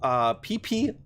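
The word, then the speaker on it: Phi Phi: So I'm going to be going to PP Island, okay? And yeah, I know, it's like Richard named it himself, right? This is PP Island. It's spelled Fifi Island in Thailand.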